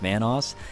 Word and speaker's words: Vanoss: new to this channel obviously my name is pronounced vanoss and if you guys screwed it up once